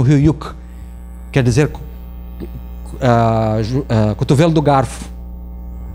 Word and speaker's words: Höyük: Eles pronunciam Höyük, quer dizer cotovelo do garfo.